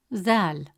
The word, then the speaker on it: ذال: though, deep, except that in Arabic, ذال is always light and soft, pronounced from the front of the mouth, while ظا is always deep and heavy, pronounced from deeper in the mouth.